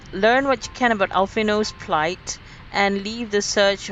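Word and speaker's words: Alphinaud: Alphino, I used to call him Alphinod because of the D at the end of his name.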